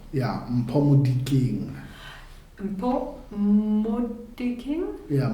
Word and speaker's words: Molikeng: how do I pronounce your name correctly? You say Mpho. Mpho? Yeah, Mpho Molikeng. Mpho Molikeng? Yeah, Molikeng.